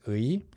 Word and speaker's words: 의: When it's used as of, it's very, very commonly pronounced as 에. So at first, if you're not sure, just pronounce it as 의.